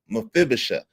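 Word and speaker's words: Mephibosheth: Mphibisha. Okay. Mafibisha. It's pronounced really really uh it it is spelled M E P H I B O S H E T H is but it's pronounced M Mibisha.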